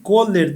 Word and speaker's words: Kohler: Paraná casado com Marlene kohler é assim que pronuncia Marlene Coller Dal ri pai de